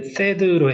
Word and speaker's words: THAAD: 단계 터미널 이렇게 터미널 하이얼티튜드 에리어 디펜스 THAAD 발음은 이제 THAAD로 해주시면 되고요.